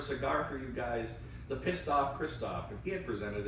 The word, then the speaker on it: Pistoff: it to piss off spelled like Kristoff p i s t o f f the pistoff Kristoff and if you look